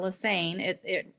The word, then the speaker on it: Lesane: So my name is Lesane. The joke in my family is it rhymes with insane, but it's Lesane.